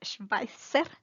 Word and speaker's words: Schweizer: El gentilicio es el suizo, der Schweizer. Recuerden que la Z es fuerte como una TZ.